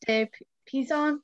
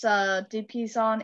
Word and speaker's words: de Pizan: So I got that mostly from Christine de Pizan. Is that how you pronounce it? Yeah, de Pizan, yeah.